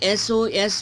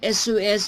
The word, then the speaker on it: SOS: let me read this we use n before abbreviation whose whose first letter has a vowel sound okay for example an SOS message and SOS missus okay s s is consonant letter if you pronounce s it has in cell bowel sound that that's why and SOS similary and ma and